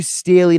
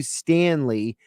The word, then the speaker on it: Staley: Duce Staley's name yes it's du Staley not du Stanley uh text TR good